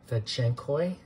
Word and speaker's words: fedtschenkoi: These are succulents, Kalanchoe, fedtschenkoi, I believe that's how you say it.